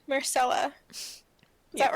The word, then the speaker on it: Myrcella: Myrcella. Is Yeah. that right? Myrcella, yeah.